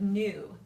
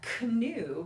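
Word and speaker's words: knew: to the rule, like the silent K at the beginning of new, K-N-E-W. If I was an early reader, I'd read that canoe because my teacher told me K was K.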